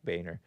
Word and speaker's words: Boehner: And it's spelled like it shouldn't be pronounced Boehner, but it is pronounced Boehner.